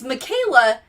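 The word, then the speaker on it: Mykayla: Her name, it's Michaela, but it's spelled My Kayla. My Kayla.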